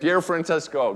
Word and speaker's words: Pier Francesco: can say the whole name without, am I pronouncing it correctly? Yeah. Pier Francesco, good.